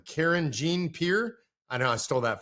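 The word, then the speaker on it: Karine Jean-Pierre: Press briefing room and Karen John Pierre no I should say it correctly Karen Jean Pierre I know I stole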